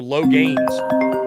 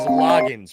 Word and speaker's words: Loggins: Austin Gregory, is Loggins pronounced Loggins or Logains? It is Loggins, my guy.